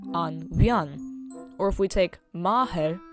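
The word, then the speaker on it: an bhean: Now if we add the definite article in front, it's now pronounced an vian.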